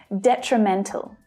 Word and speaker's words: detrimental: So looking at this word, it's the third syllable that is the strongest. And just like exponential, the first syllable also has a secondary stress. So we can hear that one clearly as well, which means that the other 2 reduce.